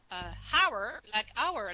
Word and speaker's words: hour: No, you pronounce it's pronounced hour, like a French one.